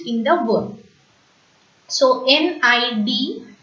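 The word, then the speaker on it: nid: So N-I-D is pronounced as ni and not need. Okay, D is silent.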